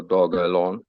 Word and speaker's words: Dogelon: So then that was also the reason why they changed it to dog and then an A lawn, so Dogelon. So that's why I try to say it like that.